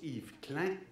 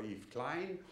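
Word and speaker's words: Yves Klein: français en fait euh c'est pour ça qu'on prononce Yve cllein et non pas y Klein et qui euh a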